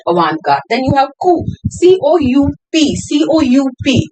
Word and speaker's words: coup: Then you have coup, C-O-U-P, C-O-U-P. The pronunciation is coup, or you can also call it coup d'état, D-E-T-A-T.